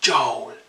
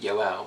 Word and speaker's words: Yoel: I had my name written on me, and my name is pronounced Yoel, but obviously a lot of people can't really pronounce my name, so it was kind